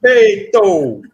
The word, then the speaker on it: respeito: Respeito. Respeito. Yeah, there you go. So respeito and then soft O at the end.